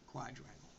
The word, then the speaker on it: quadrangle: the rest of rude quadrangle that's how you pronounce it quadrangle we've got the western root map which connects